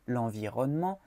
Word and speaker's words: l'environnement: Aquí lo digo lentamente, pero de manera general en francés no pronunciamos la E que sigue las dos Ns en esta palabra. Entonces decimos l'environnement. L'environnement. ¿Ok? Se pega.